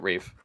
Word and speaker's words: Ralph: rough it's it's Reef it literally says r-a-l-p-h yeah he pronounces it Rave well I don't because